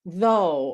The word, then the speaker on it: though: So like in the word eight, or though, or although, or through, or thought. These all have GHs. They are not pronounced.